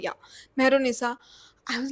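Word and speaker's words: Mehrunnisa: and Salim, from the perspective of this woman, Menorisa. How do you pronounce it? Mehrunisa, yeah, Mehrunisa.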